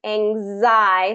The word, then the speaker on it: anxiety: So we start with that long A, ang, and then zai with the long I, anxiety. So that's that Z sound, anxiety, anxiety, anxiety. So it doesn't quite, that with the pronunciation rules, this extra sound in here gets more of a pronunciation where really if we followed it would be anxiety. But the way that we adapted it, anxiety kind of adds an extra syllable there.